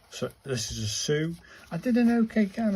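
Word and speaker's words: す: And this is a Sue, like in a super. So this is a Sue.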